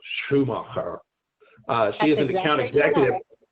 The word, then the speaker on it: Schumacher: I don't know how you say it, Shannon, but that's how the Germans would say it, so Schumacher.